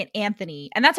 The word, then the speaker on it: Anthony: this in the show, they say his name Anthony, like Tony. Yeah, I was gonna say that. Yeah. And then, but we've been saying it Anthony, and that's how it's spelled.